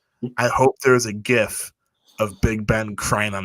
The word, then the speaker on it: GIF: I'm gonna pronounce GIF because I say it's a hard G it's not GIF Craig L if you're still listening it is not JF it's not peanut butter it's a gif I hope there's a